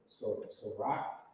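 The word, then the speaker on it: Cîroc: So rock.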